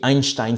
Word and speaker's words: Einstein: Euh l'autre qui qui avait une île privée avec des gosses dessus, on dit Epstein. Voilà. Mais on dit Einstein. C'est vrai que c'est assez intéressant. Pourtant, ça s'écrit de la même manière.